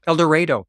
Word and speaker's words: El Dorado: a funny encounter in El Dorado El Dorado it's a unique Arkansas pronunciation rhymes with tornado is how you remember it okay yeah the operator